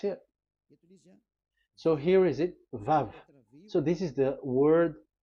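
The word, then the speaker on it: וו: So it's V as in Vogue. So it's really V. How to read Vogue? So the word, the shape Vav is really pronounced V, like Vogue. That is it, pronunciation. So here in this side, it's pronunciation. This is pronunciation. So according to the old Hebrew word today, those who the owner of the word, I mean, so it's a V. So don't change it into W, and you will say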